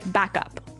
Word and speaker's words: backup: to point out that here the pronunciation and stress of this phrase is really important, hey? Yes, yes. You have to say backup. Backup. Backup. Yeah. So both words are stressed at about the same level, hey?